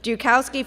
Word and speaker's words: Joukowsky: was honored by being given the first Joukowsky, pronounced correctly, Joukowsky Family Foundation Award in 2015.